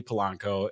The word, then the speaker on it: Polanco: Ellie Polanco. Am I pronouncing your last name properly?